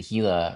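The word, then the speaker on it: Gila: really good was the Hila River. Um, which which is the section I was getting into, and it's spelled G I L A, but um, sounds like Ela with an H.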